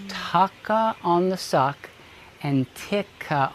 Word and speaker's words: tucka: T-U-C-K-A, ticka. Okay, and we're going to say tucka on the suck. Suck isn't a very polite word, but it rhymes with tucka.